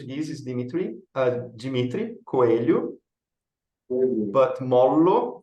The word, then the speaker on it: Mollo: Dimitri Dimitri coelu but molo is actually Italian so there is no Portuguese pronunciation sorry anything soft yeah